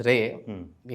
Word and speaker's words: राय: क्या है कि मेरा नाम तो जो है ऐसा ही इंग्लिश में हमेशा ही था, प्रोनाउंसिएशन सही बात है अलग थी, राय थी।